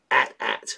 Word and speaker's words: AT-AT: AT-AT. Rhymes with hat, hat.